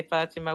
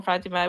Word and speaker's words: Fatima: a t but actually you don't pronounce the t. The t is silent. So people will write it ah. Sometimes you would have people they they just say fatima with a or fatima with ah.